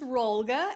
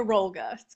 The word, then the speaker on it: Rolga: as you already heard my name is roll guy and I'm also known as yoga roll guy so it rhymes very nicely so Yoga came into